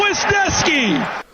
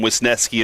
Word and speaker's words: Wisniewski: It's a pick six for Cole Wisniewski. You know what? The way that his name is spelled now, that makes sense to call him Wisniewski and not Wisniewski. The I is before the E.